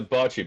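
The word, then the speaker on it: bocce: B O CC E. Bochi. Boi. Boji. Boji ball. Buddy. Sorry. like a game. It's a botchi ball. Botchi. Yeah. Botchi ball.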